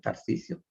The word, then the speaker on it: Tarcisio: That's right, Tarcisio. I don't expect you to pronounce my name correctly nor to learn it.